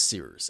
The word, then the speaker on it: Cyrus: Anyway, my name is Cyrus. It's spelled like Cyrus, pronounced like Cyrus-ter, just take out the ter.